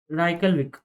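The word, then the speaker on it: Reykjavík: उसके बाद आता है आइसलैंड, आइसलैंड की कैपिटल राइक राइकलविक, राइट? ये जे साइलेंट रहता है इसका, राइट?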